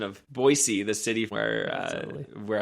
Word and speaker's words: Boise: Bolshandi um about the pronunciation of Boisey, the city where uh where I live. And so yeah, that that made me laugh. But you got it. It's Boisey instead of Boise, which most people don't know.